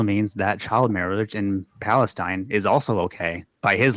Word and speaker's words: Palestine: we yeah number one it's pronounced Palestine not Palestine and number two in